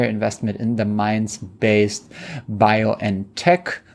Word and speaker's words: BioNTech: in the mines based bio and tech which is the german pronunciation of what americans call biontech and it is um